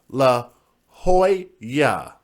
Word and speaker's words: La Jolla: Jay, it's pronounced La Jolla.